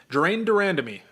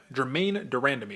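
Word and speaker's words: Germaine de Randamie: should probably take place jine durandy Germaine durandy excuse me got to say it correctly The Iron Lady Is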